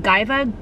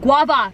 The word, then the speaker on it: guava: sugar which is good what gaiva what is it g u v a wiva guava guava oh my God there's